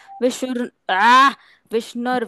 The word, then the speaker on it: विष्णुर्: ओम विश्वं विष्णुर्वषट्कारो ओम विश्वम विष्णु विष्णु विष्णु विष्णु विष्णुर विष्णुर। विष्णुर विष्णुर। व के ऊपर जो रेफ की रव मात्रा की मात्रा है, विष्णुर है।